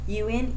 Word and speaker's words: une: UN is pronounced un. UNE is pronounced une.